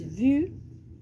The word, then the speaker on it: vous: Viram o quê? Que quando a gente tem essa terminação de letra S aqui, ó, a gente não vai pronunciar esse S. Esse S, nas palavras em francês, qualquer palavra, a gente não pronuncia esse S. Sumiu um pouquinho ali da tela, voltei. A gente não pronuncia esses S's finais, a menos que na frente tenha uma palavra começada com vogal.